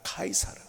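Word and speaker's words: Caesar: 어쨌든 그래서 영어식 표현인데 원래 로마식 표현은 카이사르입니다. 카이사르.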